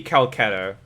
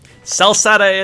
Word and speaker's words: Celceta: sell satay it is it was hard c versus softsie sell sata though no as in kel like c-e-l like the spelling's still the same it's just it's a hard c so pronounced as you would a k to an